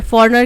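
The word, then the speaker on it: foreigner: के spelling incorrect है फॉर्नर मतलब कोई बाहर देश से आने वाला व्यक्ति राइट तो फॉरेनर के स्पेलिंग क्या होते हैं एफ ओ आर ई आई जी एन ई आर G silent होता है फॉरेनर ऑप्शन बी है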